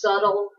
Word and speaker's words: subtle: definition is the B the B is very soft it's kind of hidden when you pronounce it it's just subtle kind of sounds like